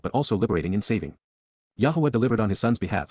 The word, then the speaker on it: Yahowah: from 11 QPs, Yahowah, Yahowah, the proper pronunciation of the name of Eloah, God as directed in